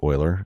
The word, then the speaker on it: Euler: It looks like it says Euler, but it's pronounced Euler.